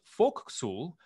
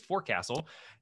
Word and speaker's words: forecastle: thought was really cool was forecastle which is pronounced folk soul as opposed to what it looks like as forecastle in the days of columbus ships were fitted